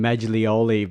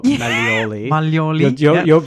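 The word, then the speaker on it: Maglioli: and I'm wondering with I'm calling him magoli but you're molii and I've got a silent G in my surname so I should know better but um the interesting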